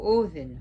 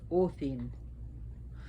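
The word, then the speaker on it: Óðinn: is he and the in america and other parts of the world we like to say odin but actually his name was pronounced orthene the d has like a dh to it so it would be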